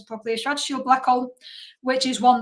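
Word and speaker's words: Schwarzschild: This is the difference between a Schwash black hole, a strat shield, sorry, let's pronounce properly, a strat shield black hole, which is one that is static,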